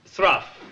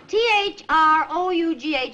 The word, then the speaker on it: through: One day he cut wood so fast that by 3 o'clock in the afternoon, his day's work was thruff. Hold it, Shakespeare. Through? T-H-R-O-U-G-H is pronounced through.